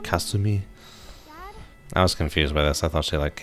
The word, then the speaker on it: Kasumi: how there's uh Kasumi Kasumi is like a very American way to pronounce ah I feel like I should be like cuss to me I was confused by